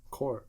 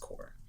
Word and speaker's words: corps: Core. They're both the same. Dude, Corp is spelled Corp, but it's pronounced Core.